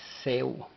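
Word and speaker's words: ሰው: Ahora, la siguiente palabra que presentamos y la cual aprendemos o conocemos es Seu. Seu. La W no lleva pronunciación en el vocal, así es de que es S-E-W. Seu.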